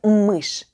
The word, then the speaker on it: мышь: of мы and get мышь, which is a mouse in Russian. We added 1 sound but 2 letters. Ша, which makes the sound sh, and мягкий знак, soft sign, which is silent.